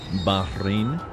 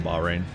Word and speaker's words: Bahrain: Welcome in from Bahrain, by the way. That's cool. Bahrain.